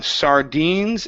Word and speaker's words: sardines: going to work on sardines as well as Reed and full of okay okay so this word here it's sardines the stresses on the end okay so I reeled